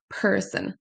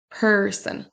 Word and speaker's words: person: Le mot premier se prononcera person. person. Donc c'est pas personne, c'est person. Person c'est un son e où on traîne légèrement sur la syllabe.